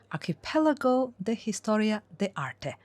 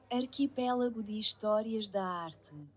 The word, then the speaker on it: Arquipélago de Histórias da Arte: Sorry, I'm trying to pronounce Portuguese spelling with a Spanish accent, and I think I have totally failed it, so let me find Google to help me with it. Arquipélago de Histórias da Arte. Okay, that's how they do it.